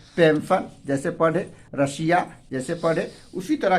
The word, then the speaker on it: Russia: तो इसको हम लोग तलाबे श का उच्चारण करते हैं, पेंशन, ठीक है। इसी तरह रहेगा आपको रेशियो, रेशियो जैसे RATIO, ठीक है, रेशियो।